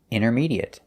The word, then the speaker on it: intermediate: intermediate we say inner intermediate and the a at the end is pronounced it there's no eight sound it's short it intermediate